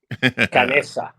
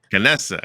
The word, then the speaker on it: Canessa: Canessa. Canessa. From I'm always adding an extra syllable in there.